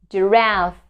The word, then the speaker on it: giraffe: So in this case, the words also start with the letter G and is pronounced like J. J. Giraffe, giraffe, giraffe.